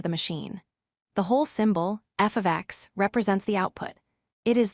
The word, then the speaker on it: f(x): When you see the letter f followed by x in parentheses, we pronounce this as f of x.